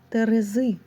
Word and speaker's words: терези: це ваги неправильно це Терези наголос Терези це литка правильно задня